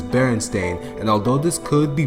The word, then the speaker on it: Berenstain: Although the word Berenstain is spelled with an A, there's a good percentage of people, including myself, who spelled, read, and even pronounced it as if there was an E there, even though the theme song clearly says Berenstain.